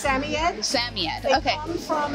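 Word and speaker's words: Samoyed: How would you actually pronounce it? It's Samied.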